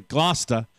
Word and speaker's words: Gloucester: more than, or I should say it properly, Gloucester, for more than 30 years.